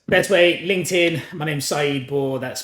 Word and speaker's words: Saeed Bor: My name's Saeed Bor. That's spelled Saeed.